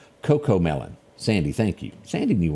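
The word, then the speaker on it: CoComelon: parental parental guidelines L Coco melon Sandy thank you Sandy knew what I was talking about I didn't pronounce it I was saying cuckoo is Coco it is a little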